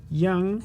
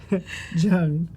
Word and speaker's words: Zheng: Zheng is how you say it. And Zheng? Yeah. I threw a Y in there for some reason. Every time, something different with me. Every time. Zheng.